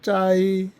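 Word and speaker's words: 灾: 아, 중국어 발음으로는 짜이 짜이 이렇게 발음이 되죠.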